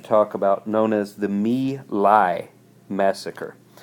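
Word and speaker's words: My Lai: about known as the me lai massacre nilay that's how that's pronounced the Vietcong would practice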